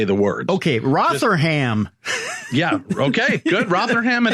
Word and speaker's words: Rotherham: Rotterdam. Sure. Just say it like you believe it. Doesn't matter if you get it right, Tim. It's the conviction in which you say the words. Okay, Rotherham.